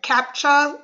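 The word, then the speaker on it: CAPTCHA: uh what is it capture support that's how it's pronounced um so as you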